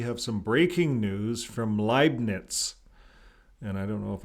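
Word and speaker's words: Leibnitz: Leibniz.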